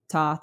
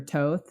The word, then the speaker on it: Thoth: Gaia, Mother Earth, uh, Thoth or Toth, depending on how you pronounce it.